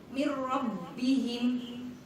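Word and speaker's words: مِنْ رَبِّهِمْ: Maka cara membacanya melebur tanwinnya ke huruf sesudahnya yaitu lam, tetapi jangan sampai menimbulkan bunyi dengung.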